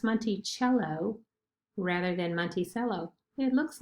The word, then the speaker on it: Monticello: on the back of the nickel it is pronounced monty cello rather than monticello it looks like it would